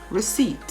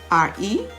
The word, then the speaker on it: receipt: how about silent p-words coo c-o-u-p the p is silent pneumonia how would you spell pneumonia p-n-e-u m-o-n-i-a pneumonia receipt p r-e-c-e-i-p-t receipt psychic p s y c h i